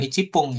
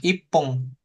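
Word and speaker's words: 一分: Nah, misalkan bukan icipung ya kan, ipung.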